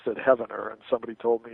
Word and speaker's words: Heavener: the 20th century from Heavener, spelled like heaven, but I think it's pronounced Heavener, Oklahoma. Maybe I've got the pronunciation wrong. Forgive me if anybody's from there. But once I pronounced it Heavener, and somebody told me it's Heavener, Oklahoma.